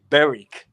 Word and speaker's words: Berwick: So it's actually Berwick. It's got an R in it.